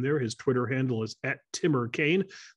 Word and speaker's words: TimmerKane: His Twitter handle is @TimmerKane. That is spelled T-I-M-M-E-R-K-A-N-E. That's Timmer Kane, not to be confused with the senator from Virginia.